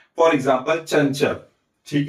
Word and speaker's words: चंचल: अर्थात हमें इस अनुस्वार का उच्चारण ञ की तरह करना है। तो इसका उच्चारण हमें ऐसा करना चाहिए। चंचल। ठीक है?